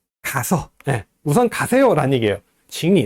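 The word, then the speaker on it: 请你: 삼성 글자가 두 개 연달아 나오면은 앞에 있는 제3성은 제2성으로 바꾸죠. 그래서 请你先去 이렇게 발음합니다.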